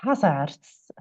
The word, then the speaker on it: Haesaerts: And Can just ask a question because I don't know how to pronounce Annick surname. okay. Annick Haesaerts.